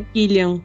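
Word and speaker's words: Cillian: presença do clian Murphy eu nunca sei como pronunciar exatamente o nome dele porque é killiam porque ele é irlandês né nome irlandês é sempre mais complicado né então é killiam Murphy isso killiam MURF É isso mesmo eu só sei o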